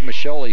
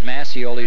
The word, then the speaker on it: Mascioli: That's Pete Mascioli who got the goal. Pete with the goal. It's not Mascioli, it's Mascioli.